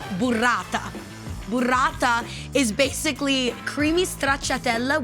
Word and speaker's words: burrata: It's pronounced burrata.